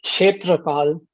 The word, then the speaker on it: Kshetrapal: Yeah, it's Kshetrapal. The K is silent. Oh, okay. Kshetrapal.